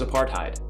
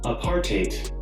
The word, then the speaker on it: apartheid: did that recording because i thought it was apartheid it's actually apartheid and for the kids